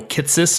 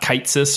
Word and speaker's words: Kitsis: Dating all the way back to our first episode where people learned it was Michael Kitsis, not Kitesis or Kitesees. It is not Chris Gibbers Pierce or Gibbers Pierce.